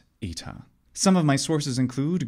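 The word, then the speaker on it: ήτα: language in this case the modern Greek letter ITA it's pronounced e in fact all of these letters are pronounced e in modern Greek these letters in graph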